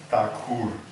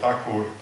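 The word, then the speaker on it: ঠাকুর: quite good but originally it has to be pronounced takur in Bal so takur was the original name from this tagor is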